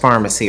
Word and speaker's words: Farmasi: Anyway, so it is pronounced Farmasi, or I'm just gonna go with what that rep said.